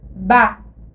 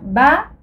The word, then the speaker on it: ba: Si on prend la lettre B et la lettre A, on prononce ba. Alors, ba, c'est le ton traînant.